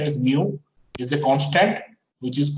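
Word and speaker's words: μ: So this mu is, this pronunciation is mu, is the constant which is called the viscosity.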